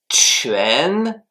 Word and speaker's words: 全: Le deuxième caractère, c'est 全, Q-U-A-N, deuxième ton qui s'écrit de la manière suivante.